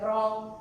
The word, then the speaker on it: wrong: it will be silent w will be silent like wrong rack right hold this